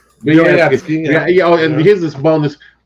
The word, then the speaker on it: Vyoryetski: got Vyoryetski, Vyorv, but it's spelled like it sounds on Facebook. Boyarsky? Vyoryetski.